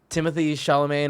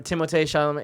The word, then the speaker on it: Timothée Chalamet: Timothy Chalamet or whatever, Timothée Chalamet.